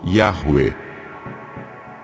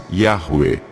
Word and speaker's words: Yahweh: Talvez nenhuma teoria seja tão famosa quanto a de que o tetragrama se pronuncie Yahweh. Essa teoria foi popularizada por Gesênio, linguista do século XIX, e é, até hoje, a teoria mais aceita no meio acadêmico.